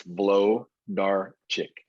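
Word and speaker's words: Włodarczyk: you pronounce that sir the w is a v the rest of it is just like it sounds it's blow dark chick and i'm going a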